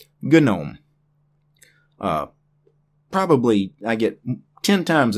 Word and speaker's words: GNOME: and it is pronounced GNOME. The G is silent. But this is not that word. This is an acronym. The first letter, the G, actually stands for GNU, which is why the GNOME developers call this GNOME.